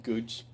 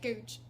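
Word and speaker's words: Goodge Street: Gooch. Googe. That's how they say it, Googe.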